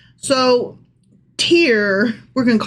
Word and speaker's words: Tyre: It is Tyre. See, that makes sense since So Tyrus.